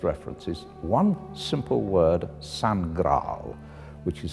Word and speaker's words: Sangraal: Its first reference is one simple word, Sangral, which is spelled S-A-N-G-R-A-A-L, Sangral. I wondered if we perhaps divided it in the wrong place. It's not San Graal, but Sangral, and that now means royal blood.